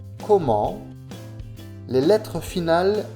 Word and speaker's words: comment: Le T ne se prononce pas. Comment?